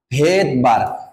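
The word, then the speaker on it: Svedberg: অনুসারে যার নাম হচ্ছে ভেদবার ভিডি ভেদ বি আর জি এবং ভেদবারটা শুরু হওয়ার কথা ছিল বাট দেখা গেল তার নামের সামনে একটা সাইলেন্ট এস আছে তার নামের সামনে কি আছে সাইলেন্ট এস এখন কথা হইলো তাহলে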